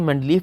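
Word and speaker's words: Mendeleev: अगर आप स्पेलिंग पे गौर करें तो स्पेलिंग में वी लिखा हुआ लेकिन मैंने नाम में एफ़ बोला है। एक्चुअली ये रशियन साइंसदान था और रूस के लोग नाम के आखिर में अक्सर एफ़ बोला करते थे, तो इसे आप मेंडलीव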